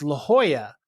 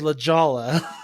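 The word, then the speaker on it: La Jolla: So I would go and visit him and it's La Hoya but everyone says Lajala.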